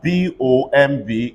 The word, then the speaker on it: bomb: If I have WOMB, pronounce it. Again. It's going to be long. Everybody say womb. If I have BOMB, everybody say bomb.